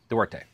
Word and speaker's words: Duarte: Duarte. I said ask my wife for pronunciation.